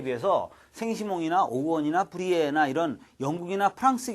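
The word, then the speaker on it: Saint-Simon: 이런 비판을 받기도 합니다만 이 사이몬이래 영어식 발음이고 이 생시몽 이 사람이 사회 생리학을 창시한다.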